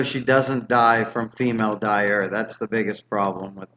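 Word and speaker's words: Dyure: doesn't die from female dire. That's the biggest problem with the female dire. Dire. Dire, like D-I-R-E, though it's spelled D-Y-U-R-E.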